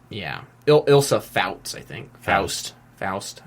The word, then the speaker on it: Ilsa: It's Ilsa. That's how you say it, right? Yeah. Yeah. I don't... For some reason, I always want to go to Elsa, but... Close. Yeah. It's Ilsa. It's with an I, I'm pretty sure.